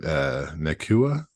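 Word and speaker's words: Nacua: I think But that Puka, that's it, Nakua.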